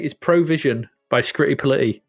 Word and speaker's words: Scritti Politti: You have to say it like that. Scritti Politti. You can't say it any other way. Yes, because it can't be Scritti Politti, can it? If you were doing this in give us a clue, rhymes with fighty. Politey? Bitey. Rhymes with bitey.